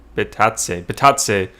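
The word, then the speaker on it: Bitadze: Ronald Jones says, I'm thinking about going back to Samson if Bitaz, how do you say his name? Bitatse sits tonight, Chris.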